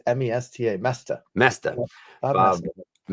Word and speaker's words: Moesta: We're with Bob Moesta. Yeah. I think I overpronounced the E. Yeah, it's just say that it's say it like it's Mesta.